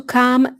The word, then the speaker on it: calm: Number 5, to calm down. There is a silent letter here. L is silent.